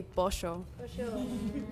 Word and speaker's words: pollo: So in the capital of Argentina and Uruguay, we have seismo, which means that we pronounce the double L as sh sound. So we would say pollo.